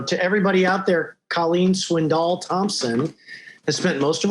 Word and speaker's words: Swindoll: colleen they certainly know swindoll i guess is the right pronunciation right colleen it is i noticed you kind of said swindler and i gotta remember you know the accent on the on the second syllable there so that's all